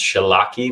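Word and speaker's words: Wszelaki: she has a weird polish last name it's pronounced shellac e but it's spelled w s z e L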